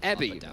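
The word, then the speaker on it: Evi: laner over there called ebby uh it's spelt with a v but it's an ebby it's like a shrimp um because there's no v in the japanese language in terms of syllables uh and he plays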